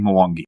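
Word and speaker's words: Mwangi: I don't actually know if I'm pronouncing Mongi correctly. Do you? You are. You are. Yes. Right. At least that's how everybody internally said it. So by virtue of that, you are correct.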